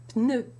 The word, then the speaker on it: pneu: Well, in French, you pronounce that P, and so you have the tongue in position for the N, with the tip of the tongue against the upper teeth, and you bring your lips together for the P.